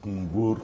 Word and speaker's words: Kunbour: Benjamin Kunbour. Is that how it's pronounced? Yes, Kunbour, you got it right. I have tried. What does it mean? Well, Kunbour actually means which death.